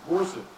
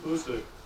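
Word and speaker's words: Boucq: After 6 months of training, the division headquarters was relocated to the town of Bousek, that's spelled B-O-U-C-Q, 34 miles south of Verdun.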